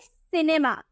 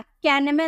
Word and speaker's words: cinema: इसे क्या प्रोनाउंस करेंगे, सिनेमा, सिनेमा, कैनेमा नहीं। यहाँ पर हम सी को क पढ़े हैं ना, तो इसे किनेमा नहीं बोलेंगे, इसे हम किनेमा नहीं बोलेंगे, सिनेमा बोलेंगे, ठीक है।